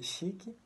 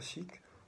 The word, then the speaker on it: chique: Alors, aujourd'hui, on parle du terme portugais chic qui a été importé en portugais du français. Chic est prononcé presque de la même manière qu'en français, mais avec un petit i à la fin.